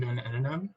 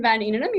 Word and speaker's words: Van Impe: you dr black um up next is allison dunano sorry if i'm mispronouncing your name by the way yeah you can hear me okay yep okay um so yeah thanks for the invitation um so my name's van impe actually did a pretty good